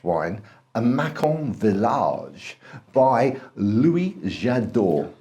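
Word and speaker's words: Louis Jadot: We are going to talk to you about a very posh wine, a Macon Village by Lois Jadot.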